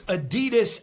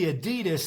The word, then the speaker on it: adidas: Today I'm going to be reviewing this Adidas ab wheel. Now here's a bit of bar trivia for you. Actually Adidas is pronounced adidas.